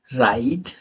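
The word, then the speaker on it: write: W silent होता है आर के पहले अगर डब्लू आ जाए तो वो साइलेंट रहेगा वो शब्द साइलेंट रहेगा कैसे रहेगा रंग राइट रप रपर रिस्ट अब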